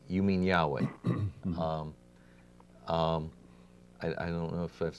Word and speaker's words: Yahweh: and I said why I think the pronunciation Jehovah is kind of like a mistake by German biblical scholars of the 1800s and that further scholarship says that a more accurate pronunciation would be Yahweh and that of course